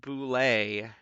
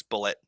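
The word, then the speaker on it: bulette: as a proof oh it's pronounced boule ah no it's not it's bullet i don't care i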